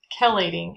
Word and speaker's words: chelating: with chelating agents apologize that's actually pronounced chelating agents and they're binding um